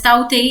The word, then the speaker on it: Tauktae: About the news, what is the news I'm going to explain it today is that cyclone Tauktae, pronounced as Tauktae, is a very severe cyclonic storm which has developed around the Arabian Sea.